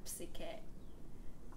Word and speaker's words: psyche: none of them do, because the Greek pronunciation, you pronounce the P like psyche.